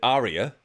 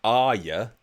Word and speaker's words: Arya: really annoys been no end her previous family pronounced it Aria and Game of Thrones fans will know it's pronounced Arya that's how our you start pronounces it but